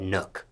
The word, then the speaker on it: Nuk: Nuk. Do people mispronounce this?